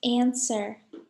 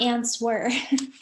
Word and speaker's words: answer: letter is actually w we say it like this answer not answer answer what's the silent letter